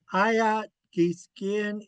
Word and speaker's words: Ayat Giskin: So ayat giskin iskin tlajuju eighth dikula awiyagan. I had a blast with Big Bear and Elias today. Ayat giskin, the W is not pronounced.